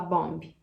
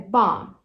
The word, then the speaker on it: bomb: Nunca mais você vai falar bomb. É bomb. Nunca mais você vai falar womb. É womb. E nunca mais você vai falar name. É name. Beleza? Essa é a importância de estudar silent letters, pessoal.